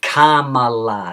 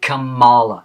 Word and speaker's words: Kamala: Okay, so by now, everybody, especially in California, should know how to pronounce her name. It's Kamala, not Kamala.